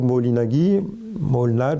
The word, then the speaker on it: Moholy-Nagy: beaucoup intéressé au mouvement, c'est Laszlo Moholy-Nagy, comme on prononce à la hongroise, qui a donc été enseignant au Bauhaus et qui s'est beaucoup intéressé aux techniques nouvelles, aux technologies nouvelles.